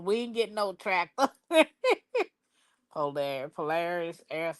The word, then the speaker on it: Polaris: No, you said it right, Polaris.